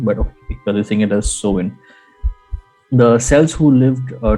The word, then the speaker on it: Samhain: a couple of movies uh where they do pronounce it as salmon but using it as sewin the cells who lived uh 2000 years ago